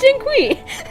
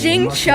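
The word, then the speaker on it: Xingqiu: how you pronounce it is that not how you pronounce jin queen i'm sorry if i'm doing it wrong i will send to celestia with my laughter today ugh exorcism uses thomas it's jing cho oh i'm so sorry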